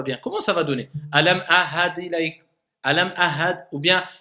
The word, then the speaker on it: ألم أعهد: Alam ahad ilayk. Alam ahad, ou bien ahad, ou bien. Donc, il faut, moi, que j'entende le ayn, et il faut que j'entende le ha.